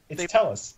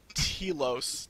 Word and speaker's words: Telos: It's Tellus. They pronounced it Tellus in the live stream or something like that. Oh. So that's disappointing. It looks like Telos to me, but yeah, not